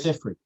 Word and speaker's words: Siffre: Pronounced as LABI Siffre, right? LABI Siffre? Siffre. LABI. Siffre. LABI. I only got that from another person's pronunciation in a video of his. Okay. So I could be wrong on that, but the